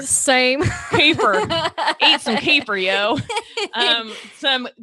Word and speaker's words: kefir: Kefir, some say kefir. I've heard it pronounced so many different ways, but my Texas accent, I'm calling it kefir. Same. Kefir.